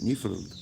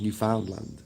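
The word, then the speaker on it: Newfoundland: That's how I know to pronounce it. New Finland instead of New Foundland Land.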